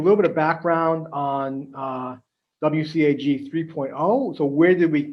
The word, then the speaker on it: WCAG: You may hear people pronounce it as WCAG.